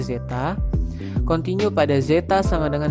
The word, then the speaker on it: zeta: Ini dibacanya zeta.